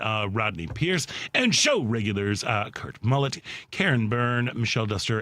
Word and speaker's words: Kurt: K-U-R-T. Okay. Mm-hmm. How would you pronounce that? Kurt. Yes. His dad was German, so it's Kurt.